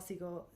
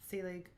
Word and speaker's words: Selig: so this this is from that um paul seagull selig selig um how do you spell it s-e-l-i-g sally um and he talks about